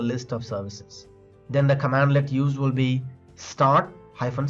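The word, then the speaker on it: cmdlet: in Powershell commands are called as commandlets pronounced as command hyphone let so if you want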